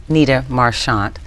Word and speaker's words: Nita Marchant: and how you developed well thank you for pronouncing my name right Nita marant um I am the founder of the small